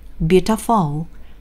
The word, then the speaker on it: beautiful: 그러면 beautiful. Beautiful. 자, 그런데 실제이 단어의 강세는 첫 번째 모음인 유에 찍혀 있습니다.